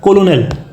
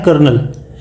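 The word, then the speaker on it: colonel: ये कर्नल लिखा है, बट अगर इसको आप इसके वर्ड बाई वर्ड उसको प्रोनाउंसिएट करने की कोशिश करो तो वैसे आएगा कोलोनेल, बट वो एक्चुअली है नहीं, वो एक्चुअली लिखा है कर्नल।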